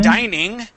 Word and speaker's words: dining: Dining, like dining room, that has two N's, and that I is a long I.